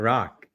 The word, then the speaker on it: Rak: Rock. That is spelled RAK, pronounced ROCK.